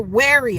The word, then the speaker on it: wary: Weary and weary are two different words. One has an extra letter in it, thus changing the meaning and pronunciation altogether. You are not weary of predators. You are wary of them.